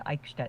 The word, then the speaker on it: Eichstätt: It's pronounced Eichstätt, with the ch sound similar to the ch in the Scottish word loch.